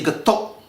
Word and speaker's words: Getuk: you to know that the K at the end of the word you should not pronounce that it is a silent K in the Indonesian language